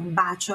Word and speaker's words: bacio: Mas não, bacio é com um C. Se tivesse dois C, seria bacio, tá? Bacio, bem leve, ó, a pronúncia, ó.